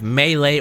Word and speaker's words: melee: this day we have melee or melee weapons however you want to pronounce it scythes laser blades farmers